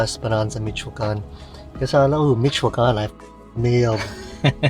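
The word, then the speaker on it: Michoacán: Because I know Michoacan, I nailed pronunciation of that.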